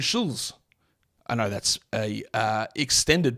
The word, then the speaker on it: Schulz: No T in Schulz. Andrew Schulz.